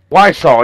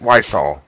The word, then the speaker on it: Wiseau: Wiseau, yeah, that's it. Wiseau.